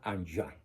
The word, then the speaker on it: Enghien: en la ciudad de Anjouan, Bélgica. Esta ciudad se escribe Enghien, con H intermedia. Como es francés, se pronuncia Anjouan, Bélgica, donde recibe el presbiterado.